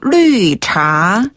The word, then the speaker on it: 绿茶: 네, 풀을 녹차에다가 차를 써가지고 류차. 류차. 한 번 더 류차. 류차라고 하죠. 네.